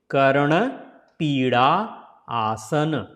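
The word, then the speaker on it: Karnapidasana: So Karna Pida, and actually this D also should be pronounced like this sound, like N sound here. Karna Pida, Pida, da, da, da, da. So it is a Karna Pida Asana.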